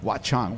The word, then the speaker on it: Watchung: up to the famous Watchung Hills which everyone's like what are the hill in New Jersey exactly what's it called Watchung what's wrong how do you spell that watc a CH ung watch on what a great name